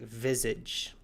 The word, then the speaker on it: visage: But in English we pronounce it visage.